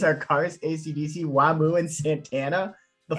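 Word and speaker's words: Wamuu: it would be pronounced Whamu.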